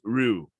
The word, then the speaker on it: Ryu: used to call him ryu apparently that's wrong uh you got blanco we're there we're there wait there hold pump the bricks what you supposed to call them apparently the correct at the correct pronunciation is rue no i'm not having